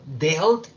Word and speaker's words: dealt: Entonces, dejo las mismas palabras, pero la pronunciación cambia de I y queda con la pronunciación E. Entonces queda deal, dealt, dealt.